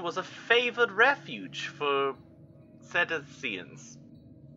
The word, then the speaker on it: cetacean: This phenomenon appears even more mysterious because up till then the region was a favored refuge for cetaceans. Cetacean. I don't... Where's my phone? I don't want to keep mispronouncing a word.